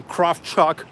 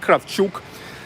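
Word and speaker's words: Kravchuk: guess in the United States you guys say craft Chuck but here we pronounce it craft shook then in the beginning of 1990s Nikolai sulligan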